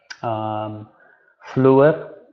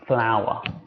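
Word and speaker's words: flour: If you say, okay, you don't say it, fluor, it's pronounced flower.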